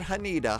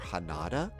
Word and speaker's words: Haneda: Uh Swedish chef, it is pronounced Hana, not Hanita, Hanada. It would be more Hanada.